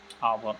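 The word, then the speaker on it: hour: He will be back in आवर। अब इसका pronunciation करके देखो, आवर, आवर में आ रहा है यानी कि एन, ऑप्शन बी सही है इसमें।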